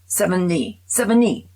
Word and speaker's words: Sevigny: I say French pronunciation, and I put in Chloe, and he said Sevigny. That's how you pronounce her last name.